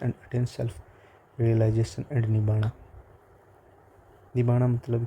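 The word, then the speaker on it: nibbāna: हम स्टार्टिंग में एक चीज़ देखी है कि जो आर है पाली लैंग्वेज में वो साइलेंट होता है, तो निबाणा यहाँ पर है।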